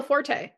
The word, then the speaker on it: Forte: And it actually stars Tina Fay and I don't know how to pronounce his name. Uh Will, is it Forte? Oh yeah, Will Forte.